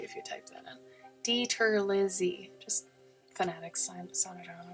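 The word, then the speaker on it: DiTerlizzi: Tony Dieter Lizzie. It's spelled like DITERRLIZZI. Pretty sure. If Google will correct you if you type that in. Dieter Lizzie.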